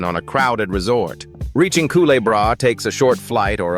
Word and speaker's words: Carriacou: At number nine, we sail south to a drowsy little island pronounced Carriacou, part of the nation of Grenada, yet feeling a world apart.